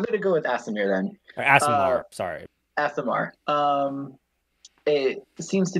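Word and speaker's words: Aasimar: Like I've heard ASMR, which I know is wrong. ASMR. No, it's pronounced Asimar.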